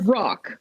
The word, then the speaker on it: roc: Not a rock. Not a rock, but A rock.